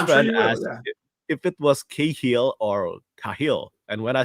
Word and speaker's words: Cahill: But everyone in like the US, UK, Australia just says Cahill. For whatever reason, I've never seen the combination of C and A with a H ever pronounced K in my life.